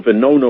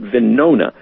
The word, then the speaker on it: Venona: after the war so vinona was over and that's how we now know about vinona it's venona not verona but venona and then there was a spy uh pardon rhymes with corona uh please i don't